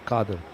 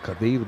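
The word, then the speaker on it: Qadir: Kadir Abdul Kad what what's the proper pronunciation kader so used to be called Kadir by certain people but K is the right pronunciation so I mean it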